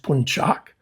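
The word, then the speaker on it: Puncak: that's pronounced punchak with the emphasis on the second syllable.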